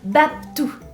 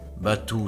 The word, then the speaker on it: Batuu: Baptou. Batou, cela se prononce, et d'un seul mot celui-ci se compose.